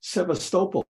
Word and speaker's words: Sebastopol: name of the city Constantinople or no um Sebastopol then you hear a native speaker it's Sebastopol yeah if that guy was dead you'd never